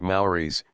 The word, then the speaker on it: Murray's: We went to Murray's, pronounced Mowry's, club for lunch, though no